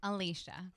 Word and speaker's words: Alicia: Alicia. So the sh sound. Yes. Okay. My father got creative with spelling, but it's Alicia.